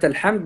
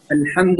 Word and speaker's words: الحمد: هنا ترقيق الهمزة واللام، بعضهم عندما يقرأ كلمة الحمد يقول الحمد، وهذا خطأ. يعني الحمد لله الكلمة الصحيحة يكون